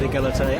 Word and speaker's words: égalité: Yeah, it does fit in with the French ideals of fraternité and égalité, absolutely.